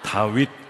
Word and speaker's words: 다윗: 발음을 잘해 주셔야 됩니다. 다윗 공동체 아니고 다윗 공동체입니다. 끝에 윗을 분명하게 해 줘야 됩니다. 저도 깜짝깜짝 놀랍니다. 다위 공동체라고 하면 우회를 하시니까.